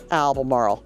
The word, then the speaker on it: Albemarle: Oh, and obviously Albemarle. Sounds like, rolls off the tongue with an A, Albemarle, not Albemarle. So just Albemarle.